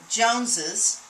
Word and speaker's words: Jones's: I added a syllable when I did that. Anytime you have a word that ends in S and you add another S, you automatically add another syllable, making it more difficult to pronounce.